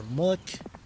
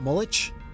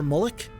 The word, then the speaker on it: Mullich: And Sir Mullick is going to go in this direction. If you didn't know, by the way, I think it's pronounced Mullick and not Mullich. Sir Mullick.